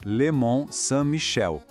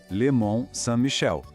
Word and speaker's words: le Mont-Saint-Michel: Esquece o N e o T no final, a gente não pronuncia. O som vira nasal.